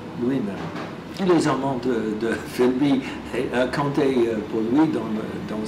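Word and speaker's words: Philby: s'appelle St John Filby les Anglais prononcent son Filby et il était un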